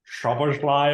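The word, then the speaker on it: Szoboszlai: Well, it's because his name is like technically pronounced Shabashly or whatever.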